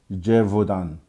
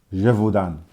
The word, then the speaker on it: Gévaudan: One such case is the beast of, another French word to try and pronounce, Gévaudan. Gévaudan.